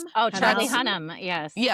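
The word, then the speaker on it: Hunnam: Charlie Hunan. Yeah. H U N A. Oh, Charlie Hunnham.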